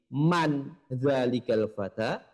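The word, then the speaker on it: مَن: Namun ternyata cara membacanya nomor 1 dan nomor 2 berbeda. Jika nomor 1 tadi man zalikal fata, kalau nomor 2 min aina.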